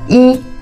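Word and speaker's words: 一: Un petit détail, pour le numéro de téléphone, le 1, on prononce pas I, on prononce souvent Yao.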